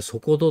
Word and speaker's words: 底土: よねうんあのコップの底とかねそういう書く底ですよねそれから土と書くんですねそれで底戸って読むんですねうん底土港